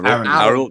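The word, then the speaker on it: Guéhi: But the way I've been pronouncing it is kind of like how a Cockney guy would pronounce the name Harold. There's no H at the start of it. So Harold, yeah.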